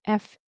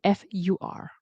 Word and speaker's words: for: But in connected speech to get the rhythm of a native speaker very often they'll pronounce it as fer or fur depends on what helps you.